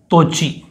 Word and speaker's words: तोची: काकू ने, और ते से हो जाएगा तोची, थोड़ा मैंने फिर स्पेस रखना है थोड़ा सा, तोची, TOCHI, ठीक, तोची।